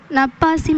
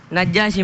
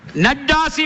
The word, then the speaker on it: நஜ்ஜாஷி: நப்பாசி மன்னன். இல்லை, அந்த விடை தவறானது. சரியான உச்சரிப்போடு வரவில்லை. அதே அணியினருக்கு சந்தர்ப்பம். நஜ்ஜாஷி மன்னன். நஜ்ஜாசி மன்னன் என்பது சரியான விடை.